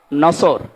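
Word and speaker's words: نصر: নিয়েন আমরা তাফসীরুল কোরআন মাহফিলে প্রবেশ করছি সূরা নসর কোন সূরা বলেন বলেন নসর না নাসর নাসর নুন সোয়াদ র নাসরুন শব্দের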